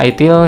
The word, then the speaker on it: ITIL: Nah, ini ada ITIL, dibaca ITIL memang agak bacanya kalau orang Indonesia mungkin agak tanda tanya,